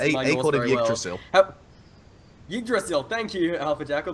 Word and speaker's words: Yggdrasil: I can't pronounce my Norse very well. Yggdrasil.